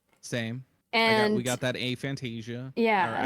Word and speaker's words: aphantasia: And we got that aphantasia. Yeah. Or aphantasia, however it's pronounced. It's aphantasia.